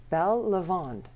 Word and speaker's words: Belle Lavande: So I'm welcoming Windy and Ryan Mack of Belle Lavande to the show.